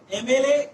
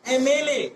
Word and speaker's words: MLA: MLA is the short form. Before a short form, that is starting with M, because M is giving the sound of A, M.